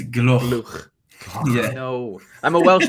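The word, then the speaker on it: Gloukh: Harry, you got to learn how to say his name. It is Gloch.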